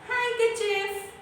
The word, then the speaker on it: handkerchief: The spelling of handkerchief is this, but it is not called handkerchief. See, अगर इसको split करते हैं तो ये होता है handkerchief, but the perfect pronunciation is called handkerchief. Here letter D is actually a silent letter, right?